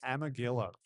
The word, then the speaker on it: Amegilla: Amagilla, I believe is how it's pronounced.